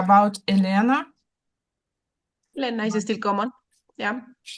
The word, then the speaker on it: Elena: Um I so elena but we say not Elena but uh we say and is short also in Italy is really is really common. Elena with the the accent on the first a. Okay. Elena not elena.